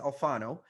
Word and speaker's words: Alfano: I always mispronounce their name, but it's Alfano. So those are primarily the two that you see in the US all over the place.